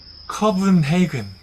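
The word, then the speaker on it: København: 이 코펜하겐이라고 안 읽고 덴마크에선 커븐헤이근 이렇게 읽더라고요. 커븐헤이근.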